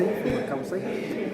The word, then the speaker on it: sumak kawsay: Bueno, hablar del summa causa, primero hay que corregir el tilde de la porque es como un insulto para la nacionalidad del pueblo cuando decimos summa causa, entonces la pronunciación correcta es el causa, summa causa.